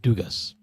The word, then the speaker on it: Dugas: And BJ, don't you love how Carlos pronounced Dugas? Duga. What am I missing here? The S is going to be silent.